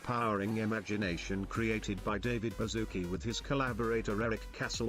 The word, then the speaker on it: Baszucki: It's not David Baszucki, it's David Baszucki. You said it wrong.